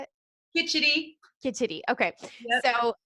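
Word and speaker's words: khichdi: I pronounce it wrong, but it's called kitchery. How do you say it? Kitchity.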